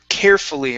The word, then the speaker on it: carefully: Let's try your tongue when you're hitting that L. Okay. Yeah. A little this bit is my lighter. problem. Yeah, a little bit lighter on the top of your mouth because it sounds like you're saying ri, like it's almost a hard R sound.